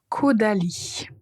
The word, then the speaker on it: Caudalie: Caudalie. Si c'était difficile à prononcer ces marques, je vous invite à répéter cette partie juste pour vous assurer de bien prononcer.